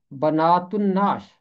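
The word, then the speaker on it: بنات النعش: जब अलिफ लाम के बाद हरफ़े शमसी आए तो फिर लाम की आवाज़ खामोश रहती है और हरफ़े शमसी पर तशदीद होती है। यहाँ इसका तलफ़ुज़ होगा बनातुन नाश।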